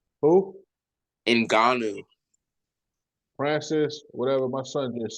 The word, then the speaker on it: Ngannou: You know how to pronounce his last name? Ngannou. Who? Ngannou.